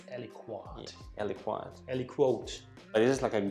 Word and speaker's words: aliquot: Apparently, it's Aliquot.